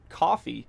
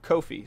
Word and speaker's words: Kofi: you wanted to again she was saying coffee instead of Kofi so let's play through